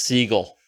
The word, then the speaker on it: Seagal: telling me it's a steven seagal movie whose last name is actually pronounced siegel steve siegel it is a mystical martial